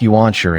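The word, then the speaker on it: 原始: In the digital world Shambhala in the primeval part, which is pronounced Yuanshi in Chinese and Ganshi in Japanese.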